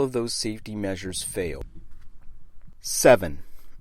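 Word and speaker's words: Sevin: those safety measures failed 7 it sounds just like the number but it is spelled SE VI n that version of 7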